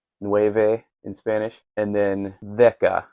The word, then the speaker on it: δέκα: And then déka, spelled déka, but déka is how a modern Greek person would pronounce it, is 10.